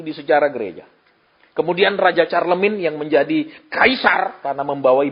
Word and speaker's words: Charlemagne: Tulisannya Charlemagne adalah C-H-A-R-L-E-M-A-G-N-E. Charlemagne. Bacanya Charlemagne.